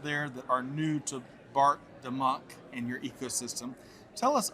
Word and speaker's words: Bart DeMuynck: of folks out there that are new to Bart the Monk and your ecosystem, tell us a little bit about your journey and what you do now.